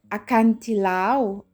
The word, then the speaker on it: acantilado: Acantilado. So we don't pronounce the D actually for cliff.